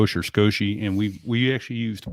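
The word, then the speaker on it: Scosche: also oh skosh meaning it's little it is pronounced skosh the company was founded by roger and scotia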